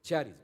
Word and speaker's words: charis: Algunas eh la Biblia usted que es electrónica más que todo la pone como jaris, pero es charis, ¿verdad?